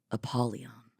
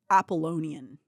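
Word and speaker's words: Apollion: Apolon. I just realized that I have been saying his name wrong this whole time. I've been saying I've been calling the prince of the pit appalonian. I've never noticed it until now.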